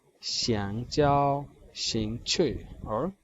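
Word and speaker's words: 兴趣: शिंग छुई क्योंकि दोनों पे आप देखिएगा फोर्थ टोन है, तो दोनों डिसेंडिंग ऑर्डर में हमारे पास ऐसी प्रोनाउंसिएशन आएगी शिंग छुई.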